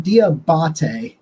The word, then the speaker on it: Diabate: It's Mamu Diabate is how you pronounce his name. It's spelled like diabetes, which is really hard when you're Googling it and you don't know exactly how to spell it.